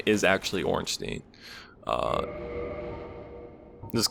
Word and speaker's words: Ornstein: same way, so there are different ways to pronounce that, but this guy's name is actually Ornstein.